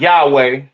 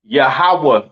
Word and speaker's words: Yahawah: it's not Yahweh uh it's not Yahweh right it is pronounced yahawah in the Hebrew all right yahawah in